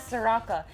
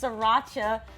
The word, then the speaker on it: sriracha: and this sriracha sauce am i saying it wrong now i don't even know he says soraka it's sriracha sauce i can handle it